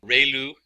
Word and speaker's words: ReLU: We have the sigmoid function, we have just a standard step function, we have the ReLU, it's pronounced like ray, the ray from the sun, and lu, like a name, so ReLU function.